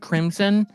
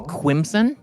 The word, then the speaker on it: Crimson: I'm sorry, actually, looking at the pronunciation, it's not pronounced Crimson, it's Quimson. Quimson with a W.